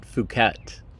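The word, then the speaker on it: Phuket: Asia oh fukat that's how you pronounce it fukat don't pronounce it any other way uh okay um beautiful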